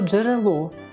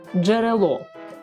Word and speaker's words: джерело: його можна не позначати слово джерело джерело Ми чуємо злитись звук Дж це приголосний твердий звук е голосний р приголосний